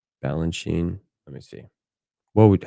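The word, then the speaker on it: Balanchine: You can see it's like do do you pronounce the end the E at the end of his name or do I just say Balanchin?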